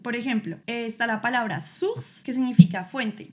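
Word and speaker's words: source: Por ejemplo, está la palabra suss que significa fuente. Y esa o u la estoy pronunciando como una u en español.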